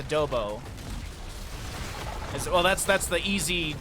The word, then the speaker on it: adobo: as he is uh unseeable I didn't know Adobe had chili as yeah that I was actually that's my dad corrected me and he was saying it's adobo well that's that's the easy easy English way